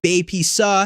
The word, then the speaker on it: BAPCPA: Consumer Protection Act, BAPCPA, which is pronounced BAP SAW, like a sneeze, and was named by